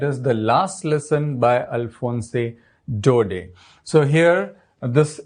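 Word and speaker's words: Alphonse Daudet: the last Lesson by alfonse dode so here this in this name t is silent we don't pronounce this T this is alfonse dode now how strange and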